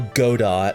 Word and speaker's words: Godot: I don't actually know if Godot is in this game. Or Godot. I'm not pronouncing it Godot. I'm pronouncing it Godot like you're supposed to.